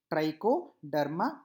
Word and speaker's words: Trichoderma: Now some examples of this deuteromycetes: trichoderma.